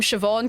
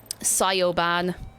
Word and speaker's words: Siobhan: to say the name Siobhan correctly, blew my little child mind. Oh, goodness. Sioban. There's so many kids walking around named Siobhan who are being called Sioban by people, and I cry.